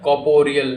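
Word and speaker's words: corporeal: इसको अगर silent, are silent हमेशा रहता है। ऑक्सफोर्ड के अनुसार अगर आप देखोगे तो आर साइलेंट रहता है। इसको पढ़ते हैं कॉर्पोरियल।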